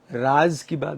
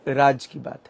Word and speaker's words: राज की बात: अपनी बात कह सकूं बहुत सारे लोग इसे मिस प्रोनाउंस करते हैं उसे राज की बात बोलते हैं ठीक है बट ये राज की बात है तो एक बड़ा खूबसूरत